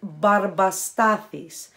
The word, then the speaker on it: Barba Stathis: The brand, which I know is hard for you guys to pronounce, is barba stathis.